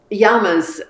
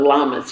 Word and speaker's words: llamas: a yama and she's yama's in peru and they're pronounced yamas instead of llamas if you're speaking spanish and they have an